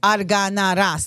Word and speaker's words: Arganaras: My last name is Arganaras. Like literally, that's how you spell it. Arganara. Like how it sounds, that's how it's spelled.